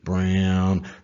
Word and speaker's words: Braun: Can they get a lot more out of the other man who looks like it's spelled like Braun, but it really is Brown? The rookie, Christian Brown.